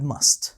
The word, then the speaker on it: must: So we can pronounce it as a strong form must, must. But when we use it inside the sentence, we say must, must, must, must. And sometimes we say must without the t.